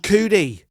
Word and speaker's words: Coodie: filmed directed created by someone called coodie not kid cootie but he's called coodie and i thought